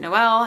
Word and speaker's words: Noel: It's spelled Noel, so it's technically Noel, but I just pronounce it Noelle.